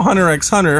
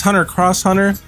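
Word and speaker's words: Hunter × Hunter: spy x family because i used to call hunter x hunter hunter x hunter it's hunter cross hunter i think the implication there is for the japanese cross means conflict or like uh an intersection so you could say say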